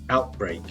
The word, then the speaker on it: outbreak: one town or region notice the stress there we have stress on both syllables outbreak epidemic virus spreads to